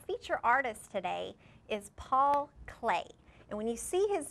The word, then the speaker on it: Klee: artist today is Paul clay and when you see his name it's spelled kle so it looks like CLE but it's actually pronounced clay and Paul clay is a very famous